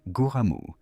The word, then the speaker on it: Gram: Celle-ci est appelée Graham, phonétiquement prononcée Goramu, qui fait une référence à la lame légendaire de la mythologie nordique, également connue sous le nom de Grammaire ou Balmung.